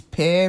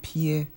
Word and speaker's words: pear: so many African countries of course I know the right pronunciation is pear but we call it peer most of the time guacamole is enjoyed with